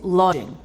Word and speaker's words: lodging: E preste atenção à pronúncia de lodging. DG formam um único som. Dizemos lodging.